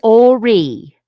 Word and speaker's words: Horry: Yeah, it's Horry. The H is silent.